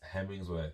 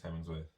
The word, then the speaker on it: Hemsworth: only store Mr Chris hemingsworth is Chris in it it's Chris Hemsworth I've got the name wrong Hemsworth foreign Chris Hemsworth